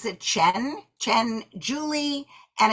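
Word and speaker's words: Qian: of this book is named her name she pronounces the Chen Chen Julie and it's funny because it looks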